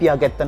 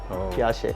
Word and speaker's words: Piaget: டச்சில் வந்து நாங்கள் வாசிக்கணும் பியாகெட் வாசிக்கணும். ஆனால் அப்படி சொல்கிறல, ஏன்னா இந்த நேம் வந்து இத்தாலி நேம்னால அதை நாங்கள் இத்தாலியெல்லாம் ப்ரொனவுன்ஸ் பண்ணணும். பியாகெட் பியாஷே அப்படி சொல்லலாம்.